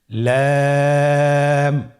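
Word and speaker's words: لام: লাম হরফটি উচ্চারণের ক্ষেত্রে অবশ্যই বারিক হবে এবং 3 আলিফ টেনে পড়তে হবে। আপনারা আমার সাথে বলুন, লাম।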